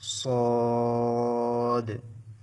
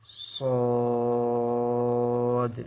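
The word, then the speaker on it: ص: লক্ষ্য করে বলুন সদ সদ একটু মোটা করে উচ্চারণ হবে সিন এবং যা চিকন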